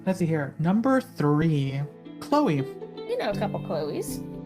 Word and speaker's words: Chloe: chloes we do um chloe is one of those names also that it's spelled really weird that sometimes just doesn't register in my head o c-h-l-o-e it's like the chuck leo or leah chloe you gotta love you